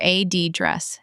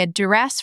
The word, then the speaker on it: address: In British English, you're right. Both noun and verb often stress the second syllable. But in American English, the noun often shifts to the first syllable. AD dress.